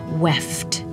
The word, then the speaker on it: weft: which we also call weft. Weft rhymes with the word left because our weft goes weft and white.